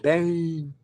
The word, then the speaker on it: Beinn: And so I looked it up and it wasn't taken and but it the pronunciation of it was weird because they're saying Bane with a Scottish accent. They like draw out the vowels.